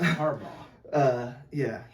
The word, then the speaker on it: Harbaugh: Yeah, it's Harbaugh.